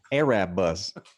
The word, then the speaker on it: Erebus: Did you say Erebus? That's pronounced Arab bus.